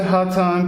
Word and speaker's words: Hotone: in the look, but it's hot of temperature plus tone.